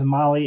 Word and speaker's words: Mahle: And for our podcast listeners, Mali is spelled Mahle.